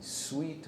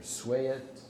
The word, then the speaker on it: Sweatt: I don't know how you pronounce the plaintiff's name. It's Sweatt, Sweatt, against Painter. It's a classic separate but equal facilities case.